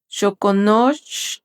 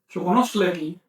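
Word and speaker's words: xoconostle: Permíteme, es que estoy pronunciando mal. Chocono shokonoslei.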